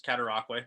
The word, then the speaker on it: Cataraqui: Yeah, well, you did pretty good on the pronunciation there. It's Cataraqui, so really close.